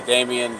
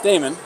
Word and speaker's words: Damon: Nobody's been able to pronounce my name since I've been born. They say Damien, Damon, Damien. double D. Damon. But it's Damon.